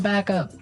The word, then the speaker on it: backup: right I think though it's important to point out that here the pronunciation and stress of this phrase is really important he yes yes you have to say backup Backup backup yeah so both words are stressed at about the same level hey mhm backup cuz